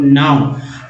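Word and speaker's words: know: जैसे एल ओ डब्ल्यू नाउ। लेकिन अगर के एन ओ डब्ल्यू रहता तब क्या पढ़ते हैं, तब दोस्तों नो पढ़ते हैं, नाउ नहीं पढ़ते।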